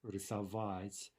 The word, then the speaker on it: рисовать: And you see in this case, the stress is on that suffix, ova, right? Рисовать. We know that it's going to remain there in all conjugated forms, right?